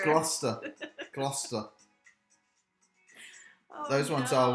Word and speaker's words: Gloucester: It's Gloucester.